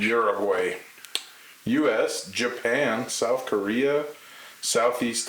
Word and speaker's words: Uruguay: Uruguaysha. Oh, I wasn't even close. No, Uruguay is how you say it in English. Uruguay.